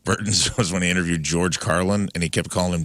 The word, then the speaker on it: George Carlin: that Jeff Burton was when he interviewed George Carlin and he kept calling him George Carlton.